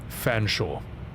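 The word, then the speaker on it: Featherstonehaugh: Well, an English place name will be spelled Featherstone half and it will be pronounced Fanshaw and that's actually real. I didn't even make up that example. That's actually a real place and it's actual pronunciation.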